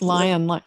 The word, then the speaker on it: Lyon: pronouncing your names correctly it's just lion lion yeah wonderful well welcome